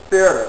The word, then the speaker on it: Pferde: P and F words, I mean, in Indo-European languages, apparently in the beginning, P's and F's were pronounced together. You still have that on a certain number of German words. Pferde, a horse, P-F-E-R-D-E.